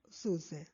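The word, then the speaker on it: syuzhet: is right and susan s y u z h e t so we pronounce it suse so what is fabula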